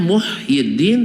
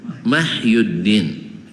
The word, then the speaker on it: Muhyiddin: memang dianggap itulah bacaannya memang dalam kitab akan tertulis mim ha ya bacanya apa Hah harusnya Muhyiddin tapi dibaca mahyuddin Tengoklah orang-orang Indonesia ada